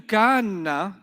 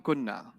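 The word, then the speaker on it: كنّ: Hunna, they were going to do kanna. They don't do that. What letter will they get rid of? So it'll just become kunna.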